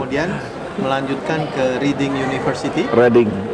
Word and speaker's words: Reading: Reading, dibacanya Reading, Reading University.